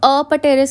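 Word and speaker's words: apterous: अब अपटेरस का मतलब होता है कि विंग्स जो हैं वो एब्सेंट है। टीरस होता है विंग्स, और अ का मतलब होता है एब्सेंट। पी यहाँ पे साइलेंट होता है।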